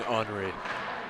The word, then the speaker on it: Henri: I'm being corrected by James with the pronunciation of Henri Peltier. He wants it the French way.